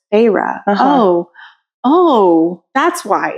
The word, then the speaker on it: Feyre: And then you hear it and you're like, oh, it's Feyre.